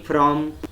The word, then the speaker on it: from: All these three words begin with sound f, and it is labiodental, that is, it is pronounced with lower lip and upper teeth, but many Marathi speakers will pronounce it with two lips like this, father. It should be father.